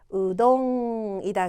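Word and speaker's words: うどん: 뭐예요 미나상 우다 그죠 자 우랑 여러분 으의 중간 발음 고요 두 번째 글자는 여러분 도예요 눈치 채셨죠 그죠 여러분 마지막에 응은 응으로 발음해 볼 볼게요 자 그러면이 글자는 뭐가 돼요 우동이다 그렇죠 다시 뭐라고요 우동 되겠네요 응은 받침으로 쓰이더라 기억을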